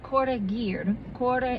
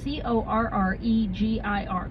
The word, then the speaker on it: corregir: Corregir. It's C-O-R-R-E-G-I-R. Corregir is, and you're supposed to roll your R's like this. But hell no, I can't even do that in the middle of the word.